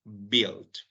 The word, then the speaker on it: build: en tu programación y Recuerden que la u no se pronuncia entonces decimos Bill ok En este caso